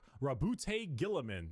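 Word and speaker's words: Roboute Guilliman: Primark Rabboute Gillamin.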